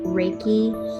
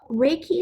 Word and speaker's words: Reiki: or life force energy Reiki is pronounced ray and key it was founded in